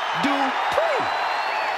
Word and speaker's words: Dupri: Here Comes The Talented Maxine dpri uh Michael it's pronounced dpri the following contest is scheduled for one fall